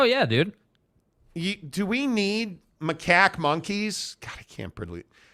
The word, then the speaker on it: macaque: It's pronounced macaque. Exactly how the soundbite is.